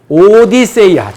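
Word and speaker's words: Ὀδύσσεια: 그 다음에 이제 오디세이아. 드디어 이제 오디세이아. 이 오디세이아라고 하는 거는요, 오디세이의 그리스적 원문 발음이 오디세이아고요. 영어로는 오디세이. 그리스 말로는 뭐라고요? 오디세이아.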